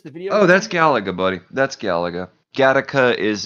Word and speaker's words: Galaga: Galaga? Galaga, not the film Gattaca.